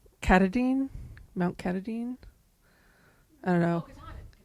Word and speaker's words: Katahdin: Maine are going to probably tell me I'm mispronouncing this, but it's Katahdin? Mount Katahdin? I don't know. Katahdin. Thank you. Katahdin.